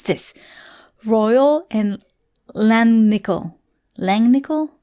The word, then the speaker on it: Langnickel: this royal and langnickel langnickel like nickel so it looks like